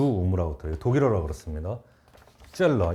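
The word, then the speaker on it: Zöllner: 젤러. 이거는 그래서 그 왜라고 발음하면 되고 이거 U잖아.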